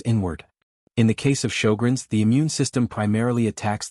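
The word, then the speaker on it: Sjögren's: Sjogren's, pronounced show-grins, is an autoimmune condition.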